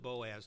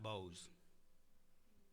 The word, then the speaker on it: Boaz: Boaz very important Boaz pronounce it Boaz not Bose okay this is not